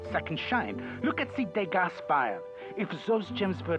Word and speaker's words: Degas: You mentioned Degas. What is that? I don't understand why we're pronouncing the S in Degas, but...